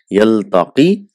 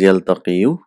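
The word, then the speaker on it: يلتقي: Yaltaqi, so we know it is yaltaqiyu, but it is pronounced as yaltaqi.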